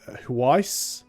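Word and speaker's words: Hwicce: part of the um I think it's pronounced hwi h w i c c e bit of a weird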